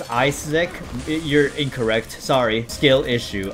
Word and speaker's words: Isaac: good as a person ISAC uh you actually pronounced it wrong it's isic you're incorrect sorry skill